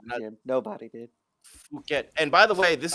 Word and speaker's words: Phuket: These and Adesanya, all three of them at Tiger Muay Thai in Phuket. I always want to say Phuket for obvious reasons, because Phuket, why not?